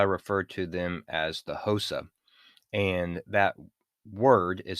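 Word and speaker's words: Xhosa: pronounced it hosa and it's really more pronounced cosa and even that is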